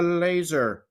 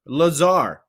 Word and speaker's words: Lazar: Curtis the Laser. Lazar. I said laser. You may also pronounce it as Lazar.